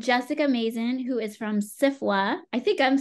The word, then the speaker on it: SFWA: author's Guild and Jessica Mason who is from CIFA I think I'm saying your acronym right which